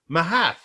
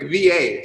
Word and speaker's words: mhath: The second word is MHATH. MH. Now I would say Mahath, but you said what? Like VA, so Va, Sláinte Va.